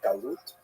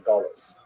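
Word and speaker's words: גלות: connotation but the word exile in Hebrew galut or in aazi pronunciation gulus uh that Jews were thrown out of their land.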